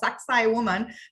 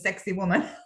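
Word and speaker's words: Sacsayhuamán: to see sexy woman yeah that's how it's pronounced saksai woman but everyone says sexy woman saksai woman is one of the most it's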